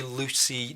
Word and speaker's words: Luci: you have a Luci which I believe it's pronounced Lucy its spell el you see I II I'm sure that probably stands for something but if you have a Lucy night vision system this